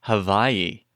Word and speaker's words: Hawaii: interview with him and apparently Hawaii is pronounced havi. Oh, yeah. It's like Barcelona and Bartholona.